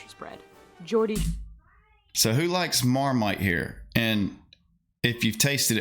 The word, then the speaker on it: Marmite: a discussion yeast uh Marmite it sounds like termite weird things in the